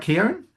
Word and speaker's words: Keown: But, it started, am I pronouncing it right, Keown?